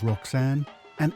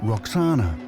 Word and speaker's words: Roxana: hint in her name the Greeks pronounced it Roxana but it may originally have been vakana which would mean